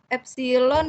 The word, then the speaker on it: epsilon: Terus ini bacanya epsilon ya Pak ya? Kalau ya, ini. betul. Epsilon.